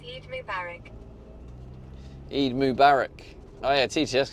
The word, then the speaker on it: Eid Mubarak: Rab says, "Lao, it's pronounced Eid Mubarak." Eid Mack Y.